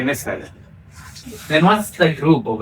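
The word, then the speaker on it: nfr: So for instance, this letter we can either pronounce it as niter or nefer. They're not sure. Some people even pronounce it as nitshe, but the most common is to say nefer.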